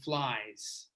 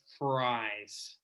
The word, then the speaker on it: fries: So you don't want to be saying flies. You want to be careful that it does sound like fries.